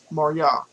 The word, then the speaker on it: Marya: This word is pronounced Marya. Marya.